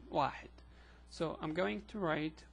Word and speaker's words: واحد: It's written like that, and it's pronounced واحد or واحد or again واحد.